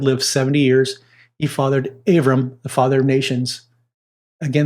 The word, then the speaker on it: Avram: It's Abraham or Abram, but in the Hebrew, the B is actually pronounced the V, depending if that's God Dagashinit or how it's pronounced. So it's Avram, means exalted father.